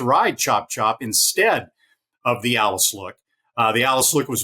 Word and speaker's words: Alice Look: credit that she deserves the alleys look or the Alice look uh Alice is actually the granddaughter of Ike thrash uh the owner uh that's how you pronounce it the Alice look she surprised Brad Cox when she beat chop